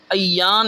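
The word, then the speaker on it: ایّان: عربی لفظ ہے لیکن اس کا تلفظ الف پر زبر اور یا پر شد، ایان یوں پڑھتے ہیں، اور اس کا معنی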